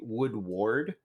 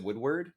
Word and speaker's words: Woodward: it's like it's like my last name is technically would ward because you know we're the the protectors of the wood or whatever um but uh yeah but uh i i pronounce it woodward just because that's how i've always been raised so i assume it's